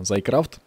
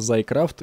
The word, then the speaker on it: Thaumcraft: стоит плагин дни мод за и крафт считается он именно так а не как некоторые считают его x one x y que крафт как только они считают правильно читается за и крафт и именно так называет